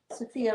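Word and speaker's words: Sophia: did not Hello sopia sopia rhymes with Maria or Fury Red that might look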